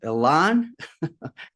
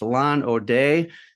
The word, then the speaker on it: Alain Audet: Um, it's uh laan. I have just I am so bad with your name, my friend. It's Alan OD.